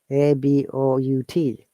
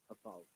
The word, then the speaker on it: about: ABOUT. About. Mm-hmm. About. Okay, Monica. Yes, about. About this A is short sound.